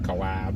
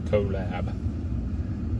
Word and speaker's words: collab: I guess it's more like collab, right? Not a collab. It's like 2 labs. 2 labs getting together, Yeah.